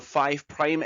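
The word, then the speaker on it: 5′: about what's called a five prime end and a three prime end so the five asterix is pronounced as five prime the reason that's the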